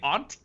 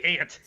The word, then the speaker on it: aunt: comment you're oh odd you say aunt yes okay what am i supposed to say i say ant oh i say amp